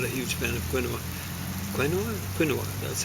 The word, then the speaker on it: quinoa: No, I gotta admit, I'm not a huge fan of quinoa. Quinoa, that's how you pronounce it.